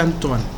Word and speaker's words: Antoine: Bueno, se escribe así, pero como este fue un autor francés, se pronuncia Antoine.